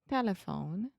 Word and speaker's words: telephone: Ah, telephone. Yeah, tell me where the schwa is. T. No. Telephone. So I'm saying te, eh. Telephone. Yeah, so the schwa is the middle syllable.